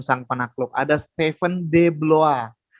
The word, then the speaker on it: Blois: Ada Steven de Bloa atau tulisannya Blois bacanya bloa. Nah, itu bahasa Prancis kan sekalian.